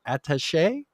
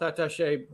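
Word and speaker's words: attaché: this word and i've been saying it for attache i get it health attache yeah us embassy a senior advisor to the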